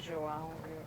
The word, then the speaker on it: João: It's a good thing Joao rhymes with cidadão.